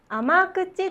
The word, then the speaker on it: 甘口: 読めますかこれこれは甘口と読みますどんな意味でしょうはい